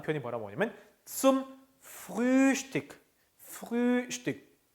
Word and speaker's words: Frühstück: Frühstück. 우 umlaut 우에서 ü죠. ü. 그래서 Frühstück.